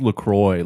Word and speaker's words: LaCroix: Lacroix Lacroix Lacroix so it says on their website it's pronounced Lacroix like for the boys that sucks I know